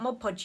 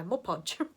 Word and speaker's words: Mod Podge: And depending on what Mod Podge you use, you can use. I said it right that time, didn't I? Mod Podge.